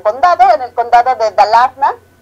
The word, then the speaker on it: Dalarna: en el condado de Dalarna, que suena, cuando ellos pronuncian suena como Darlana, pero bueno, es Dalarna.